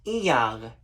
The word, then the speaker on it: Iyar: And that's because the way you say the month of Taurus, the name of the month of Taurus in Hebrew is pronounced Iyar, Iyar.